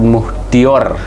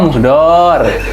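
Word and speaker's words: Muhdlor: KPK menahan Bupati Sidoarjo Ahmad Muhdior. Muhdor. Oh, Muhdor. Gus Muhdor ini. Hampura apa Ahmad? Gus Muhdor dia anak kiai besar tuh Gus Ya.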